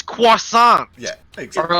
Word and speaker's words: croissant: Like, can I have a croissant? It's croissant.